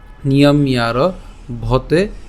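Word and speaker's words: নিয়ম্যারভতে: এখন এই যে জফলা আছে, এই জফলার উচ্চারণটা কার মতো হবে? ইয়র মতো হবে। তাহলে ইয়র সাথে আকার এবং হচ্ছে র, তাহলে ইয়ার, নিয়ম ইয়ার ভতে।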